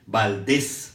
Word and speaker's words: Valdés: semana pasada, por cierto, Valdés se escribe con S y con acento en la E, y el acento en la E, Valdés, que es curioso porque yo siempre lo escribía sin acento y con Z, pero es Valdés con acento en la E y con la S de Samuel.